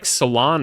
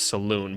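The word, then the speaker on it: Salaün: if they took like Salon or something like that, which apparently that's how you say his name. So all you guys been lying to me in the comments that it was Saloon, but whatever.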